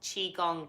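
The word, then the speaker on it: Qigong: well not just yourself ah chi gong yeah that's how you spell it Qi ji oMG and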